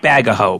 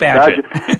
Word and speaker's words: Bagehot: And I should mention that Bagehot is spelled, as I've probably done before, I apologize for my educated listeners, but it's Bagehot. That's right. Which looks like Bagaho, but it's not. That's right. That's it's Bagehot.